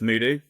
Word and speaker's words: Muhdo: come from and then teach me how to pronounce it? Yeah, so it's Muhdo.